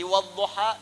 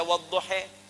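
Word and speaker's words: والضحى: bacanya bisa beragam kan yang enggak bisa baca a pakai e imalah jadi wadduha bisa dibaca waduhe ya Jadi bukan pendapat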